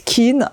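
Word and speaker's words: Quinn: nous avons ici Kate Kin j'en ai pris deux livres d'elle je ne sais pas si c'est Kate Kin ou Kate can on prononce attendez on va voir tout de suite il dis Queen carrément bon le code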